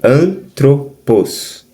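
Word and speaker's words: ἄνθρωπος: Você vai ouvir antropos. Você basicamente já está falando a divisão, ó. Antropos. Como se fosse a palavra androide. Androide. Ou andrógeno. Andrógeno.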